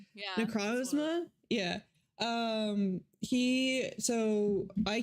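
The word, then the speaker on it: Necrozma: I can never pronounce it. Necrosma.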